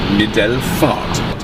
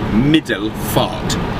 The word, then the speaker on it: Middelfart: There's no way of saying it other than how it is spelt. It is spelt Middelfart. I'll say it again so you can understand it, because it is obviously a foreign language for us. It's in Danish.